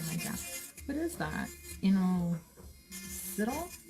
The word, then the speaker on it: Inositol: Inositol? How do you say that? Insulin? No, Inositol.